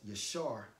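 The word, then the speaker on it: יָשָׁר: It's pronounced as yashar, which means to be right, to be straight, all right?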